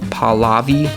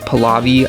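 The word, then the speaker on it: Pahlavi: would put Mohammed Reza paval palavi palavi I think is how you say it as Shah Reza Reza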